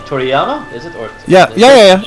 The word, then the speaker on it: Toriyama: there are people who absolutely love it, like Totoyama and his. I mean, his name wrong. Toriyama, is it?